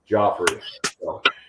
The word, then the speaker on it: Guifre: The king in Game of Thrones or the ballet in New York. Got it. Joffrey.